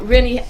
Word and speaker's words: Renny: I always want to say Renny, and it's Renny. And I hate to break it up, but I'm learning how to say it right. Now, Renny is Renny. Renny is correct.